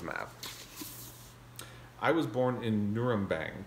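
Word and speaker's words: Nürnberg: i was born in nurembang can you hear it nugurum bang if you say it right it hits the back of your mouth and you should taste blood in your words and that is an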